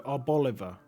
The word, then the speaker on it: Arboliva: Chloritza Reverse Holo, Reveroom Reverse Holo, and an Arboliva, Bolivar, because it's like an olive, right? So you say it like Oliver, so Arboliva.